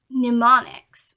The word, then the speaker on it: mnemonics: Mnemonics, which is spelled Mnemonics, but you say it mnemonic, I believe.